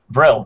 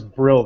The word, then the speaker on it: Vril: Vril, V-R-I-L. Oh, V-R. Okay, I thought it was Brill this whole time.